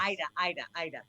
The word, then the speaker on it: Aida: Been looking forward to this discussion with you, Ada. Yeah. How do I So pronounce your name properly? Ida. The Ida. A is silent.